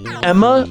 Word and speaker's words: Ema: Is it Emma or Ema? Because I hear everyone say it like Emma. I'm like the only motherfucker on the planet calling her Ema.